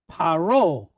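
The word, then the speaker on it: פרעה: Now we have the letter ayin, silent letter, right? And how is it pointed? With a cholem and a hey after it. Oh, paro. Who is paro? Not Hercule Poirot. Yeah, no, Paro.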